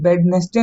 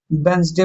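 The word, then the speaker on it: Wednesday: इसको वेडनेसडे नहीं पढ़ेंगे। वेडनेसडे पढ़ेंगे। डी साइलेंट होगा यहां पे।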